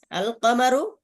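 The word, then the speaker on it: القمر: আল কমারু লামের উচ্চারণ হয়, এজন্য কমারিয়া বলে।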